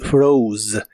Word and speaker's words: froze: en el pasado es froze es un verbo irregular y el pasado usa una o esta o se pronuncia como ou y el final también usa la z que es vibrante fro fro en el pasado lo